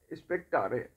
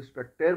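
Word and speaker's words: spectare: उसके बाद एक और शब्द निकला, स्पेक्टारे। हम इंग्लिश में शायद इसको स्पेक्टेर बोल देंगे, लेकिन वहाँ पे स्पेक्टारे ही कहते थे वो लोग।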